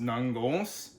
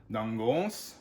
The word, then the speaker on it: Nangos: And that name is pronounced Nangos. So the emphasis is on the O, Nangos.